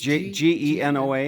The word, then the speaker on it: Genoa: The Eastern Sierra, and looking down to the community of Genoa, which I can see it in the light. You say Genoa, It's Genoa? Yes, and it's pronounced Genoa.